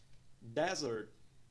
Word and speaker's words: desert: Primeira sílaba pronunciada como des, segunda sílaba pronunciada como earth. Nós temos um apóstrofe logo após a primeira sílaba, indicando que ela é mais alongada e pronunciada num tom mais alto.